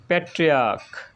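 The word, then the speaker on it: patriarch: এবং প্যাট্রিয়ার্ক এর সিএইচটা ক এর মতো উচ্চারণ হয়েছে, তাই হবে প্যাট্রিয়ার্কস।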